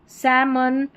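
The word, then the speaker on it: salmon: Number 34 पर है एल एम। इसको म करके पढ़ेंगे। क्या है? एल एम। इसको म करके पढ़ेंगे। काम पाम सैमन और यह है बाम।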